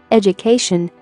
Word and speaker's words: education: the suffix for example ed plus u plus cation education here ed and katian are connected by u so d u sounds jew let's check the pronunciation